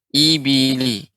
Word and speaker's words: الإبل: Pengucapan harus lebih jelas lagi kasrahnya. I ya dengan rahnya sedikit dikebawahkan. Ibili.